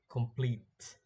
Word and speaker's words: complete: First one is complete. Complete. The second syllable is strong.